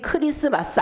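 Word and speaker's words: Xmas: 여러분 어떻게 쓰죠 일일이 크리스마스 안 쓰잖아요 그죠 엑스마스 이렇게 쓰거든요 엑스마스 쓰고 크리스마스라고 읽는다 그럼가 어디서 나왔느냐 크리스토스 헬란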